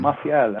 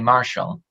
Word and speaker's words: Martial: Martial. Am I pronouncing that right? Exactly, yeah, absolutely fine. Yeah, that's right. Oh, you're one of the few people that actually get the name right. Most people here in the UK just call me Marshall because it's the easiest for them.